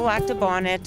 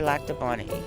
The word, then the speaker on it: Lac du Bonnet: talk to those people so laab Bonnet or laab Bonnie is the pronunciation here either one goes either one goes yeah